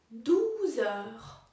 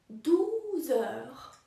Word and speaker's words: douze heures: W wymowie obie te frazy różni tylko jeden dźwięk. Godzina druga, deux heures, deux heures. A dwunasta, douze heures, douze heures. Deux heures, douze heures.